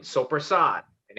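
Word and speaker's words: soppressata: I think it was like salami, pepperoni, capicola, or sopressata. I don't know. I forget what it had. Oh, So you mean sopressat? No, where we pronounce our fucking vowels at the end of the fucking word.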